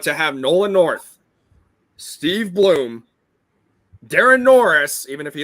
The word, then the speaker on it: Blum: more prominently I'm like Steve Blume it's bloom it's Steve Bloom really great yeah I'm